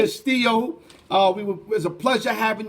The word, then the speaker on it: Castillo: Let me say it right. It's not Costello. You said it it's right. Castillo.